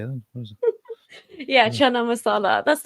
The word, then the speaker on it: chana masala: Chana Mas how do you say that yeah chana masala that's not even British that's that's that's Indian